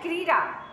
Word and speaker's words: क्रीड़ा: और एक लिखते है क्रीड़ा तो उसम ड का उच्चारण होता है तो उसको क्रीडा पढ़ा जाता है ठीक है संस्कृत में